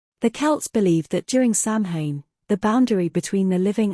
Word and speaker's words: Samhain: The history of Halloween can be traced back to the Celtic festival of Samhain, pronounced Samhain, which was celebrated in what is now modern-day Ireland, Scotland, and Wales.